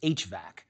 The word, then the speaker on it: HVAC: The heating, ventilating, and air conditioning system, abbreviated HVAC and usually pronounced HVAC, provides control of temperature and humidity while also supplying fresh air.